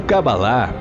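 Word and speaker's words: קבלה: entregue pelo próprio deus a palavra cabala ou cabalar como é pronunciada no original possui o significado do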